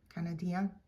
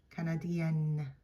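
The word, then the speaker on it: canadien: Canadian Canadian so um in the masculine form we don't really hear that n at the end Canadian Canadian and as you notice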